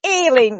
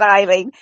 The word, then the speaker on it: Aileen: It's Aileen with an A. Aileen, not Eileen.